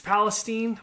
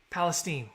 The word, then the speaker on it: Palestine: It's Palestine. Man, I am so bad at mispronouncing Arkansas city names. Palestine.